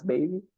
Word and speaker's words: Baby: Vocês vão perceber que eles têm muito estrangeirismo na pronúncia até, né? Muita palavra em inglês que eles incorporaram mesmo e pronunciam em inglês. Pronúncia do inglês mesmo.